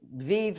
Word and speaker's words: Vive: Well, I pronounce it Vive because I've got a bit of an affinity towards Italy, and in Italian, it's a conjugation of the verb vivere.